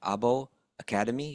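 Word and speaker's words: Åbo Akademi: He's a lecturer in religious studies at, I want to make sure I pronounce this right, Abo Akademi University.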